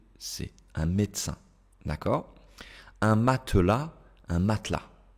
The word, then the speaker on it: médecin: informel toujours en général ils ne vont pas prononcer le E s'il se trouve entre deux consonnes au milieu d'un mot d'accord regardez un médecin un médecin ici on a deux